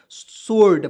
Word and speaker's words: sword: ठीक है, यहाँ पे डब्लू को साइलेंट करेंगे, ओ से ओ की मात्रा, डी से ड, और आर जो है आर को नहीं चढ़ाएंगे, क्या जो दोस्तों पढ़ेंगे, सोल्ड पढ़ेंगे, SWORD, सोल्ड पढ़ेंगे।